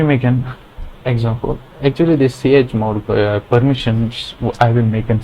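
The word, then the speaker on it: chmod: Then another thing is ch mode. Ch mode, not ch mod.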